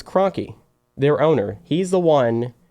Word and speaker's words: Kroenke: know me yeah just it's it's crunky it's Kroenke yeah never pronounce his name right huh Kroenke is the